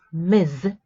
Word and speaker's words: Ms: The pronunciation is Ms., right? So that we don't get confused with Miss, right?